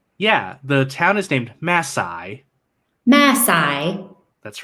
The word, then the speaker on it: Mae Sai: this cave is yeah the town is named masai masai that's right masai masai okay great excellent